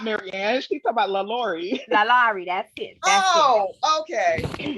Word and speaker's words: LaLaurie: Lalari. That's it. That's Oh, okay. it. I Yeah. told Oh, y'all yeah. I mispronounce everything, right?